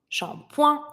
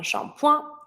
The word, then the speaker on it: shampoing: Shampoing, and I don't pronounce the last letter. Un shampoing.